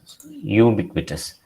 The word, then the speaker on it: ubiquitous: It is pronounced as ubiquitous. The first sound, this is not j, this is y എന്നുള്ള സൗണ്ടാണ് first sound.